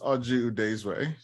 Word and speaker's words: Oji Udezue: you I think I I like the Irish pronunciation uh no my name is aju desray um I've been working in uh software technology